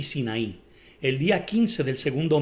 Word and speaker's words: Sin: el desierto de zinc así como sin como si fuera pecado en inglés pero es sin con ese y por qué hay